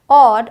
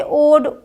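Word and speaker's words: odd: जॉब टॉप रॉड नॉट अब देखिए शुरू में आ जाए तो ऑफ ऑड अब हम इसे ओड ओफ नोट रोड नहीं बोलेंगे ऑ करके बोलना है बोल बोल कर प्रैक्टिस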